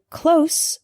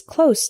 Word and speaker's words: close: are two common examples the word close with an S sound means near not far for example my house is close to the bus station